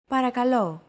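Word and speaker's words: παρακαλώ: English don't forget that words get accentuated in Greek so make sure to stress that final syllable with the accent mark repeat after Chrissy parakalo para calo since most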